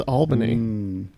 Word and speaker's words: Albany: It's Albany, which is like Albany in New York. Yes, the correct answer is Albany. But it is pronounced Albany here.